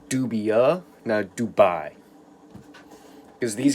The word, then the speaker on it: dubia: anew set up and just as a little pronunciation it's called Dubya no Dubai it's d ub i a not d ub